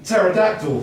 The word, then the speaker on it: pterodactyl: A dinosaur with a silent letter is very tactful. You're slightly taking the P. Pterodactyl.